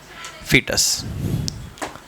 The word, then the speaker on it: foetus: FOETUS इसका spelling होता है, ठीक है, फीटस। हाँ, नोट कर लो।